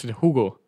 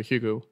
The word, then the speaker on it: Hugo: in France we pronounce Ugo UG and then in Germany we pronounce Hugo and then when I pr when I I say it um I pronounce it the English way so Hugo but it doesn't really